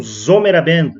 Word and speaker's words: Sommerabend: alemão provavelmente vai conhecer vamos falar sobre o zomer Band essa é a pronúncia certa né o zomer Band esse disco